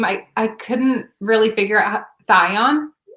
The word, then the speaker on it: Thyon: Thyone? Thyone, okay. I think that's how it's pronounced.